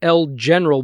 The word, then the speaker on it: El General: It's not El Generale, I think is how you pronounce it, but El General, and a little bit about that title, that person.